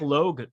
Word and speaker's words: Logue: This young Zach Logue character. Yes, L-O-G, Logue is what I was told is how you say his last name.